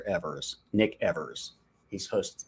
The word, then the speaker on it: Evers: I guess you're telling me how to pronounce his name correctly because I wasn't sure if it was Evans or Evers.